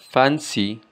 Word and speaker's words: fancy: Para pronunciar correctamente fancy, fancy, tenemos que hacer fuerza o acentuación sobre la primera sílaba. Fancy, fancy, para que suene más natural.